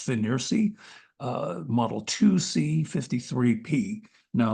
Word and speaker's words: FNIRSI: be in comparison with The F ni RSI I guess that's pronounced fery uh model 2C 53p